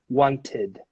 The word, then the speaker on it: wanted: So number 1, the word wanted ends in a t. So then in this case, you would have to pronounce as id in the end, okay? Wanted.